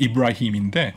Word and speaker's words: 이브라힘: 영, 저 아랍어 발음은 이브라힘인데 예.